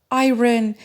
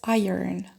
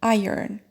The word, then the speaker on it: iron: prayer and this one a lot of people pronounce it iren whereas it's iron iron and this one a lot of people pronounce